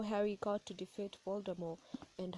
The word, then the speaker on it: Voldemort: evil Lord called Voldemort again for those who pronounce it wrongly it's Voldemort and uh people were terrified of calling him